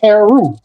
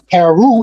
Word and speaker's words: Heru: Heru and hero are phonetically the same word. Heru is who you might call Horus. The vowels are interchangeable. The O and the U are interchangeable. Instead of Horus, it's Heru. You know, but that's in